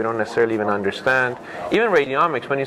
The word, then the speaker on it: radiomics: So this field of radiomics, as it rhymes with genomics, etc.